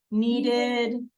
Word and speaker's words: kneaded: It's spelled with a K. It actually is, it has a silent K.